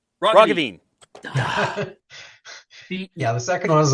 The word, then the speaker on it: Roggeveen: Liberal Party leader John Roggeveen. Roggeveen. Yeah, the second one is a little He gave me both pronunciations. yeah, it's those hard G's. It's you can blame the Dutch.